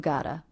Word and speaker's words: gotta: The T here pronounced as a flap T or D because it comes between 2 vowels.